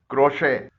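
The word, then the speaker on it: crochet: से निकल रही है टी कुछ अल्फाज में साइलेंट भी होता है जैसे इन फ्रांसीसी जबान से अखज किए गए अल्फाज में खामोश है बैले गोर मेंे रेपो बुफे डेब क्रोशे बैरे वगैरह में टी साइलेंट है इसके अलावा भी टी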